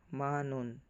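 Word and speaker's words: 만원: won Chun non then Ito naman man won pero ang pronounce niya dito manon laging wala yung w Okay manon then sa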